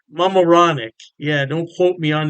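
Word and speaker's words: Mamaroneck: state put Kipsy and I believe it's pronounced Mam moranic Mam moranic yeah don't quote me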